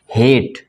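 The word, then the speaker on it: hate: चलिए जैसे कि हेट, इसमें ई क्या है, साइलेंट, क्योंकि सबसे अंत में है।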